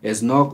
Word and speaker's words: Snogk: Ya saben, las redes sociales de él está como Snog o Snook, ¿cómo se dice la verdad? Snook MC. Snook MC.